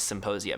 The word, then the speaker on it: Symposia: you go to symposia symposia by the way is still with a p silent P like in psychedelic you know cuz we're